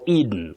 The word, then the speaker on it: Eden: As a name you say E. You begin with E. The long sound E. Eden, Eden, the garden of Eden or Eden. You can say Eden.